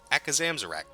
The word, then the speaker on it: Akazamzarak: His talent, that's right, Akazam, I said that shit without even looking, I said his name wrong so many fucking times in the beta, so, Akazamzarak.